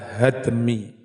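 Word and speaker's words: هدم: Lafad hadmi, cara membacanya bifathil ha wa sukunid dal, dengan menfathah ha dan mensukun dal, hadmi.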